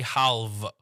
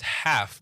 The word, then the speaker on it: half: You're pronouncing the L the LV sound or the L. People used to say halval. So yeah, it's it's half. That's that's that's where it is. It's a F sound.